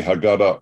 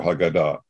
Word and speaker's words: Haggadah: It's actually Haggadah or Haggadah. So you have three choices, and you pick the one syllable it isn't ever based pronounced.